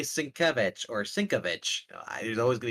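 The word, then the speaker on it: Sienkiewicz: If you mispronounce Sinkevich's name and I tell you and you Sinkevich. continue to say Sinkovich, okay, well I told you.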